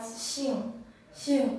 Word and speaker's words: 杏: This character is pronounced as Xing, and it means apricot or plum.